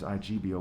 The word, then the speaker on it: Igbo: One is IBO, one is EBO, and one is IGBO, where the G is silent.